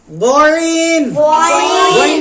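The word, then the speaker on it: غين: উচ্চারিত হবে আইন আইন গইন কেমন উচ্চারণ হবে কন্ঠনালীর শেষ কন্ঠনালীর শেষে উচ্চারিত হবে গইন বইন ফা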